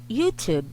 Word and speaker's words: YouTube: the sound of this when you pop the t for this word is youtube youtube the sound for this